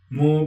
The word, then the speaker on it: Mu: Mu pronounced as in cargo, Mu, Si, and Yun.